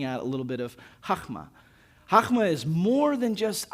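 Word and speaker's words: חכמה: That right there is chokma. That's the word for wisdom and it's got a little bit of a guttural sound at the beginning, but chokma, right?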